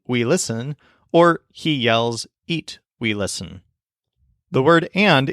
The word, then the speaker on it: y: yells and we listen the Spanish word for and is e spelled with the letter Y it's such a short sweet easy word just a single sound e and it's super easy